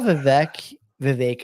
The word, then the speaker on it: Vivek: I saw Vivek, I should say, that's how you say his